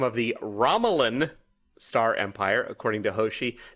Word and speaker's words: Romulan: It's pronounced Romulan.